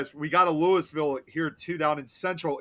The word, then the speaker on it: Louisville: the exact same name, but that's not how we pronounce it over here. It's Louisville. Period."